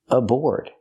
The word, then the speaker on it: aboard: the first word aboard use the or sound like floor and more plus the D at the end aboard the a is pronounced as awwa a a board put the stress on the second syllable it comes from a